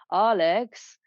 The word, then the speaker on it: Aalex: So Alex is spelt with two A's. It's spelt with two A's. So it's how my dad says my name, Alex. So, and it just means